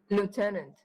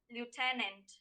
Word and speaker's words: lieutenant: please give me the pronunciation of this word in american english lieutenant that is right lieutenant novel please note participant surya